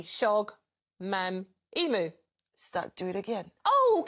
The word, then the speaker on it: Shogbamimu: Shogbamimu. Start. Do it again. Oh, come on! No, no, I've got the Shola right. Do it again and read it phonetically. Shogbamimu. You just missed the B.